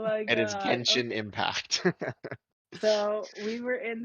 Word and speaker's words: Genshin: It's a hard G. It's I saw the video. It's not a J. Oh my god. It is Genshin Impact.